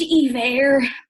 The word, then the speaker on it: Iver: as he gets to correct her and say it's pronounced ever all this and still